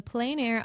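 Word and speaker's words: plein air: The the ple air plane air. How do you pronounce this first of all and then like a 30,000 foot view? What is it? Yes. The Plain Air Art Festival.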